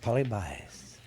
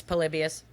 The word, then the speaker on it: Polybius: I've got polybius yep it's not polybias it's polybius it reminds me of